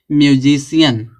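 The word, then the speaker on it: musician: अब बताओ सी है, तो सी के बाद आई ए है ना, आई ए आया तो सी का उच्चारण क्या निकलेगा, बड़ा सा निकलेगा। सब मिला देंगे क्या हो जाएगा, म्यूजिशियन।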